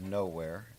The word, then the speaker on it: Gnowarre: The title of the show is Lost, Then Found in the Middle of Nowhere, and it's spelled Gnowarre. So that play on the word Yes. gnome, right? And it's the home of the gnomes, and it's a town